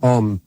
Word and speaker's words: Om: Bueno, la sílaba clásica por antonomasia es una de 3 letras, que es Om. Om. Y las 2 primeras son una A y una U, para que esto sea